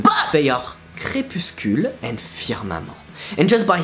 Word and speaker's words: firmament: So to pronounce firmament is actually easy. Just go with firmament, replace the which doesn't sound, you know, like moist, and replace it with a double E sound.